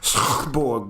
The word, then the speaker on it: Schotborg: Well, the way my father told me it's pronounced, you gotta like clear your throat when you're saying it, so it's Schotborg.